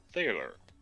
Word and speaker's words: thaler: It is the angelicized form of thaler, pronounced Taylor with a long A.